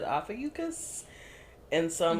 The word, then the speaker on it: Ophiuchus: an article that said Ophiuchus. And so I'm like, okay, are we pronouncing the U? Okay, we're pronouncing the U.